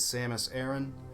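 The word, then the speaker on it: Samus Aran: Our protagonist is Samus Aaron. That is how it's pronounced.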